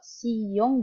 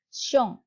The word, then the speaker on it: xiong: Kalau X kan tadi dibacanya si ya, S. Jadi kalau Siyong, jadi bacanya adalah Xiong.